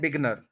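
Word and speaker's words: beginner: बिगिन से एक word बनता है जिसको हम कह देते हैं बिगनर। ये वर्ड बिगनर नहीं होता, बिगिनर होता है, ये हमने आपको प्रोनाउंसिएशन में बताया भी था।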